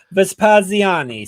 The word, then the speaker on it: Vespaziani: Say it Italian. Vespaziani. See, Nailed it is easier. Nailed it. It's always easier when you pretend to be Italian.